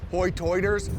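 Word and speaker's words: hoi toider: The dialect on this island is sometimes referred to as hotoiders, which is their pronunciation of high tide.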